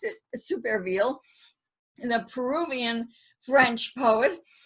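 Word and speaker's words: Supervielle: uh jules superville uh it uh many people pronounce that supervie and that's how it looks in french but in fact he pronounced it super reveal in the peruvian french poet um that is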